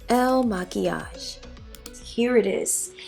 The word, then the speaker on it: Il Makiage: the ads on Instagram I don't know how to pronounce it I lied it's Elle maquillage here it is it's